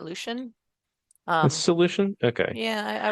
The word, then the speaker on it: Lucian: the Dead in uh lucians or luchian do you know how that that's pronounced the Lu u c i a an if it's ancient Greek I'd say that Lucian um Lucian okay yeah